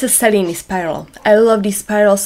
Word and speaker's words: Cellini: Cellini spiral, actually some people call it the Cellini spiral, and they are right. That's how it should be pronounced. But the more established pronunciation in bead community is more likely to be Cellini spiral.